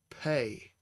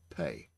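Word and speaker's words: פא: And you see Pei has a sere underneath it, and this is followed by an aleph, which has no sound of its own. So it's pronounced Pei. Pei.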